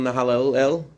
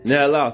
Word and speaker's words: Nahalal: He's from a place called Nahalel, not the most religious neighborhood. I'm mispronouncing it. How do you pronounce it? Nahalal, thank you.